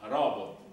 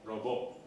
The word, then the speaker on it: robot: Intanto si pronuncia robot e non robot, anche se in italiano potete dire come vi viene.